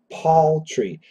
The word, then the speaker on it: paltry: poultry poultry poultry and then p-a-l-t-r-y Paul tree now this is actually